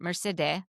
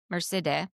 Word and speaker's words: Mercedeh: Mercedeh. Mercedeh. That's her real Persian way to say her name.